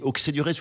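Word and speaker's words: Auxey-Duresses: On dit Auxey-du-Rez ou Auxey-du-Rez. Alors les Bourguignons disent Auxey parce qu'ils n'arrivent pas à prononcer les X.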